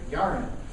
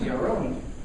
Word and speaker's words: Yaron: And we call him Yaron all the time in the Texas vernacular, Yaron. But his name is Yaron.